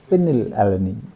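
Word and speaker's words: phenylalanine: One word है एफ, क्योंकि हम इसकी प्रोनाउंसिएशन कहते हैं फिनिल एलेनिन.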